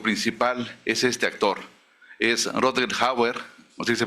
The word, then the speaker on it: Rutger Hauer: Es Rutger Hauer, así se pronuncia, él no es alemán, sino creo que holandés o algo así.